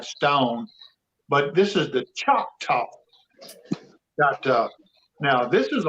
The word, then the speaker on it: Choctaw: How do you pronounce that? Choctaw? Choctaw.